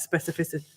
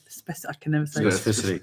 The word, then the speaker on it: specificity: There's no S at the end of it. It's a C.